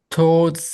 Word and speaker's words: toward: towards the leading limb on both sides. Toward. Toward. No, it's not two. It's toward. To, Like twice. twice. 12. 12. Toward. Toward. That the first O has no sound.